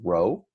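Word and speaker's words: ρ: this is the symbol for density this is pronounced Rho Rho and we talk about density right we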